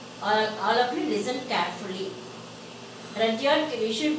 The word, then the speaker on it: Rudyard: Rudyard, we should not use the pronunciation of Rudyard.